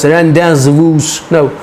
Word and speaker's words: rendezvous: So you will call it, अजीब सा word है, स्पेलिंग है RENDEZVOUS, rendezvous, no, rendezvous.